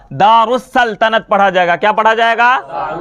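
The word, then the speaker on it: دارالسلطنت: जाएगा उसी तरह से यहां दार अल सल्तनत अल सल्तनत लेकिन यह पढ़ा क्या जाता है दारुस सल्तनत अलिफ और लाम साइलेंट हो जाता है अलिफ और लाम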